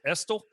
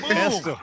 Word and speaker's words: Estill: Was it Estill? Yeah, you got it. Estill.